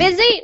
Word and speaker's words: busy: Busy? No, that's correct. Busy rhymes with dizzy.